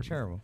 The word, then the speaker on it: Cherryville: It's chair, like a chair. Cherryville. And then Ville or Vod, depending on which side of town, the east side or west side.